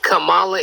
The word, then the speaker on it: Kamala: And by the way, it's Kamala Harris. Well, maybe I don't speak the same... I don't pronounce my words the way you do.